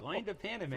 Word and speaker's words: Loin de Paname: How do you pronounce this, Brett? Just like it sounds, Loin de Pan. Lando Paname. Loin de Paname.